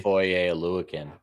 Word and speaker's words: Foye Oluokun: Foye Oluokun. That's how you pronounce his last name.